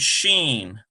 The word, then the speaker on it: Sheen: So then we get S-H-E-E-N. Sheen, it's softer because you got the H sound in there, so it's much softer. So seen and sheen.